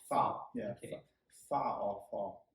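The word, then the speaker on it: phở: Full, but it's I guess the proper pronunciation is foul.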